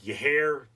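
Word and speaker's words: Yair: at the pronunciation repeatedly it's like yeir but it's y a i r and it means he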